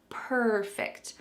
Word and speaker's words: perfect: beginning of that word perfect I want to speak per F English the emphasis is at the beginning so make sure that that emphasis is correct in order to say this word accurately all right let's look